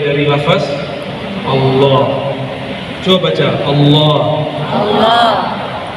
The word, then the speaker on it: Allah: Coba baca Allah. Allah. Yang benar bacanya Allah. Allah. Hak besarnya itu diberatkan.